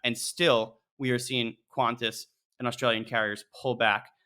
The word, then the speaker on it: Qantas: Am I pronouncing that right? It is Qantas, right? Qantas, yeah, bonus points if you know what it stands for.